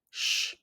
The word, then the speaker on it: ś: Explanation how to pronounce the Polish sound sh. The best way to pronounce the shh sound in Polish is to say it as the English sh.